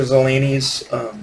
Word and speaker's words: Zelazny: But Zelazny is how you pronounce his last name.